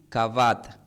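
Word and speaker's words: כבד: Pero esta palabra tiene una raíz con la palabra hebrea también que es gloria, pero gloria se pronuncia como cabot. Solamente se cambia la a es cabat cabot, pero honraré y gloria e en la raíz hebrea indica valorar, respetar, dar dar gloria y peso.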